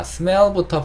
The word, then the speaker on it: smell: 이 단어가 L 두 개로 끝나거든요. 그쵸? L 발음은 사실 우리가 아는 리을 발음과 조금 달라요. L 발음을 할 때 항상 주의해 주실 거는 혀가 윗니 뒤에 붙어야 된다는 거예요.